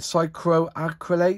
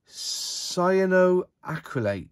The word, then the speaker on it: cyanoacrylate: is their super glue is it psychroacrylate is that how you say no sin cycles cyanoacrylate ca that's how you